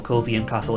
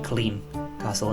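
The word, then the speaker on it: Culzean: he corrected me saying you don't pronounce the zeds in uh in scottish names for example cozy and castle is actually clean castle and then latency is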